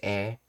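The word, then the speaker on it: へ: the character he but it's as a particle it's pronounced e and uh uh because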